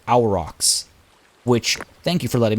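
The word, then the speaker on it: Aurochs: think it's a little premature who are these arcs they are so I was told in the comments it's actually pronounced our rocks which thank you for letting me know because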